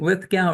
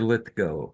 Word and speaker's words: Lithgow: Is it Lithgow or Lithgo? How does he pronounce? I I've heard I've heard Lithgo. Lith Go.